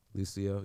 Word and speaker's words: Lucio: I think it's just like Lucio. Lucio, yeah.